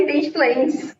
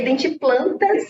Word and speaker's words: Identiplantas: YouTube com esse nome Identiplantas, que, gente, eu vou soletrar aqui, porque geralmente o pessoal confunde, né? confunde achando que é em inglês, identiplantes. Mas não é identiplantes, é identiplantas, em português mesmo.